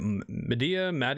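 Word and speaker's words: Madea: Medea?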